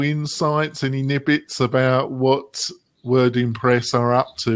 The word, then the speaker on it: WordImpress: Am I pronouncing it correctly? WordImpress? WordImpress, yeah.